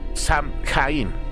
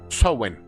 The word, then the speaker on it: Samhain: Estas fiestas se pronuncia más o menos Samhain, así dice aquí, pero vamos a llamarles Samhain.